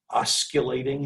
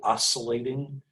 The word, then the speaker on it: oscillating: that one i've heard people use the word mispronounce it slightly and and uh call it osculating instead of oscillating it's kind of an obscure word but i've